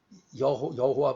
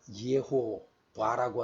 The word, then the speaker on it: 여호와: 되어 있다는 거죠 그래서 여호와도 사실상 그 여호와 발음이 아니라 이게 이것도 죄와로 시작을 이렇게 해서 그 예호 봐라고 하는게 맞겠죠 여호와는 구원이시다 이걸 얘기하고